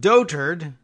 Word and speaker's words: dotard: weak or senile that's pretty good too it's pronounced dotard and searches for the term spiked during Kim's